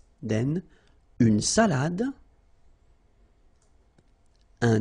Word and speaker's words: salade: All right, so, une salade, same thing here, final you don't insist on it, it only gives you the pronunciation of the previous letter, so d, salade, salade, okay?